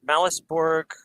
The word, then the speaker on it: Malus Borg: And am I saying it right, Malus Borg? Yep. It's Malus Borg because the Malus Maleficarum, the Witch's Hammer, the infamous book of witch hunting.